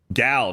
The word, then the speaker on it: Gal: Gal, not Gail, you fuck. She's hot. Say her name correctly.